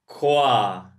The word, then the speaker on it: croissant: And here, quaso. Spelling and pronunciation is not the same at all.